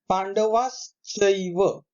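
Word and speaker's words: पाण्डवाश्चैव: पांडवाश्चैव, ये च के ऊपर जो दो मात्रा दिखाई देती है उसका उच्चारण एव होता है।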